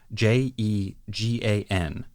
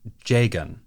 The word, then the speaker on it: Jegan: the sort of mint-colored Jegan, or Jagan. This one is decently straightforward. That's how I would naturally pronounce that based on the way it's written, and that matches the Japanese.